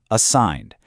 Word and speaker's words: assigned: Assigned. That G is totally silent.